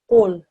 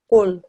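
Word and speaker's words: قُل: sound is made is right at the back of your mouth, at the top of your throat. When you put that together here in this word, this reads qul, qul.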